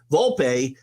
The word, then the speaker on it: Volpe: carry yourself again uh Volpe I want to keep wanting to use the two syllables and I don't want Drew yelling at me I finally figured out how to say his name Volpe carries himself like a